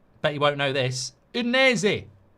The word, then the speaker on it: Udinese: Udinese. Udinese.